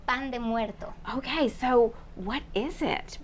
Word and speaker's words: pan de muerto: bread of the Dead pronounce it for me the Mexican way it's called Pand muerto Okay so what is